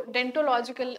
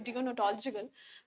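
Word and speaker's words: deontological: तो ये डियोनोटोलॉजिकल में हम ये देखते हैं, जिसको डेंटोलॉजिकल नहीं प्रोनाउंस करना आपको, इट इज डियोनोटोलॉजिकल।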